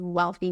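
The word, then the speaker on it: Wellthy: of my company is wealthy Mama but it's not spelled we a l it's spelled w l l um because it is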